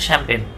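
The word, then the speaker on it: champagne: সে বললো, এটা আবার চ্যাম্পিয়ন কইন না, আবার চ্যাম্প্যাগ নেই বলে না, এটা উচ্চারণ হচ্ছে শ্যাম্পেন।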